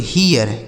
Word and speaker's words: here: तो HERE इसे पढ़ा जाता है दोस्तों हीयर, HERE हीयर। अब इसको भी तो आप समझ ही गए होंगे कि इसको भी हीयर पढ़ा जाएगा, यानी दोनों का पढ़ने का तरीका एक ही है।